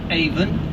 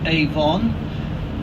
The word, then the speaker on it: Avon: all you notice that I pronounced it even not Avon Avon is a cosmetic company this is the River